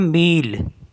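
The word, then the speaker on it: mille: होता है सिटी और एम आई एल एल ई इसको पढ़ते हैं मील मेल मीस होता है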